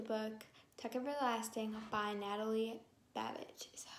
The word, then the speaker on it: Babbitt: today with the book tuck everlasting by natalie babbage is that how you say it yes i